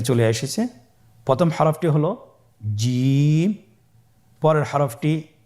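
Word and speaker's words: جيم: যাবে এর মাখরাজ হলো জিহ্বার মধ্যখান তার বরাবর উপরের তালুর সঙ্গে লাগিয়ে উচ্চারিত হয় আপনারা পিকচারে ছবিতে দেখতে পাচ্ছেন যে জিহ্বার মধ্যখান তার বরাবর উপরে তালির সঙ্গে লাগিয়ে উচ্চারণ করতে হয়।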